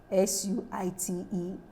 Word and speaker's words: suite: SUITE, SWEET, having the same pronunciation.